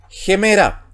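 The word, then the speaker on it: ἡμέρα: En este caso, dijimos que la palabra comenzaba con la vocal eta y llevaba espíritu rudo, por ende el espíritu se pronuncia como J anteponiéndose a la vocal. Por eso es gemera.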